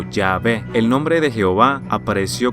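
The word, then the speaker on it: Yahweh: en hebreo yhw H nadie sabe realmente cómo pronunciar esto porque estuvo fuera de uso durante tanto tiempo pero muchos creen que la pronunciación más probable sería yahwe o yahve el nombre de Jehová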